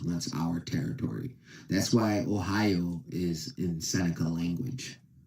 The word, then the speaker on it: Ohio: the correct pronunciation of Ohio, which is the Seneca word. It is not just upstate New York, western New York. It is the whole Northeast that was once our territory. That's why Ohio is in Seneca language.